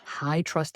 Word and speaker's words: HITRUST: Google High Trust Explained, one framework to rule them all. High Trust is spelled HITRUST, and I'll spell it again in the post description.